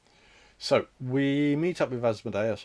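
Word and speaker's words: Asmodeus: we meet up with asmodus or asmodus depending on how you want to pronounce it asmodus is probably correct but I've called him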